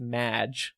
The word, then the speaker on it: Maj: o - Maj but pronounced Maj like Madonna's nickname and this is this